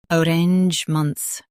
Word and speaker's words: arrangements: arrangements Now, read the syllables shown on the screen naturally. uh rangements arrangements Stress range and keep ments light.